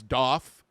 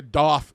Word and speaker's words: Daith: at the beginning, but a lot of people like to pronounce this as Daith. I refuse to do that for various different reasons because it is spelled D-A-I-T-H. That does not make a Daith sound. I'm sorry. I know the guy that invented it claims that's how it's supposed to be pronounced, but no.